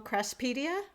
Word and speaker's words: Craspedia: I Googled it and I found out it's called a crass, and I may be pronouncing this wrong, craspedia?